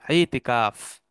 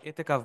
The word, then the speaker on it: ইতিকাফ: এইখান থেকে একটা শব্দ আসে ইতিকাফ। ইতিকাফ, ইতিকাফ আমরা করি না রমাদানে, আমরা এতেকাফ বলি বিকৃত উচ্চারণে, এতেকাফ বলি, ইতিকাফ বলি, ইত্তেকাফ বলে অনেকে, সবগুলো উচ্চারণই ভুল। আসলে শব্দটা হচ্ছে ইতিকাফ।